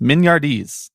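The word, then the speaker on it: mignardises: something that i had to look up the pronunciation of before talking about it on a podcast mignardis when you sent me uh what it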